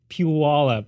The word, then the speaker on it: Puyallup: And now, is it Puyallup or Puyallup? It's Puyallup. I don't know how else to pronounce it, but it's a small area, like right down south of Tacoma.